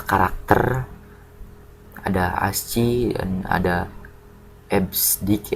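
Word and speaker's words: EBCDIC: ada Asci dan ada esdik ya dibacanya esdik kemudian yang keempat adalah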